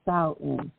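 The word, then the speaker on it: Samhain: it's named it's spelled quite different but it rhymes with C in so s in meaning Summer's end the ancient Kelts believe that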